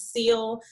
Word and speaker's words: Sil: is casilia um i'm artistically known as seal s-i-l just to lessen the complication and pronunciation i am a seventh grade english teacher